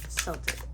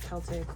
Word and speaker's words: Celtic: We're using the Celtic or Celtic, whichever way you want to pronounce that. I've heard it pronounced both.